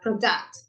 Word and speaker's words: product: Product or product? Weird, right? Product, yeah? So this little arrow here means that you make the stress, yes, or the emphasis in this first syllable.